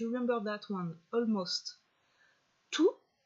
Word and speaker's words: tous: Tout, with an S at the end, but that you do not pronounce.